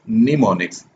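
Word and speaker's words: mnemonics: से हो रहा है लेकिन ये एम साइलेंट है, तो उन्होंने आगे बताया भी हुआ है इट is pronounced as निमोनिक्स। एम जो शुरू वाला है वो साइलेंट है, वो नहीं पढ़ा जाएगा।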